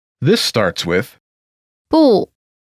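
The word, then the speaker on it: 不: together here am not pronunciation note when is followed by a fourth tone its tone changes from the fourth tone to the second tone listen to the pronunciation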